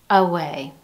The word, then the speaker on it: away: Instead of enunciating an A sound, as in the words day, may, say, we hear schwa at the beginning of these. Ago, atone, away.